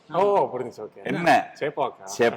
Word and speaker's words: Chepauk: Chepauk. It was Chepauk. I would have asked him. Bro, tell me the history. First, it was Che-Bagh. Over that period of time, with mispronunciation… You don't know?